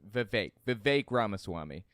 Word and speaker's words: Vivek Ramaswamy: Sorry, his name's pronounced Vivek Ramaswamy.